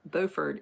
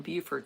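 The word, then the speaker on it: Beaufort: So it's kind of like how Bowford is Bowford, North Carolina in Buford, South Carolina.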